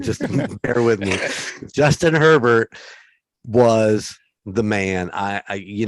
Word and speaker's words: Herbert: Herbert, I always say it wrong. How can you say Herbert wrong? I keep saying Hebert and other shit.